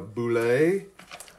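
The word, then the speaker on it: Bulette: There's a Boulet. Rhymes with Robert Goulet.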